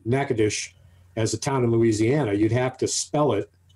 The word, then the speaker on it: Natchitoches: The way it looks like it's pronounced is Natchitoches. Natchitoches. Well, and that pronunciation is what I heard on the radio, but the way it's pronounced in Louisiana is Natchitoches.